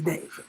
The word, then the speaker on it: D4vd: Is it David? I'm gonna call the nigga David because that's what I feel like is on his birth certificate. But I know it's spelled in a very peculiar kind of way. D4vd. Please. The man's name is David.